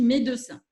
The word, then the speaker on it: médecin: À Toulouse, on prononce tous les « e », par exemple. On ne dit pas médecin, mais on dit médecin.